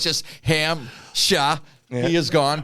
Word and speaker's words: Hampshire: at all it's just ham sha he is gone p is silent just like God silent